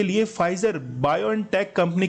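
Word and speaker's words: Pfizer: तो यूएसए जो है ये इसका करेक्ट आंसर है और वहां पर फाइजर, देखिए पी साइलेंट है और इसमें यूज किया जाता है फाइजर।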